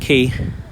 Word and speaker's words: Quay: Yeah, it's pronounced quay.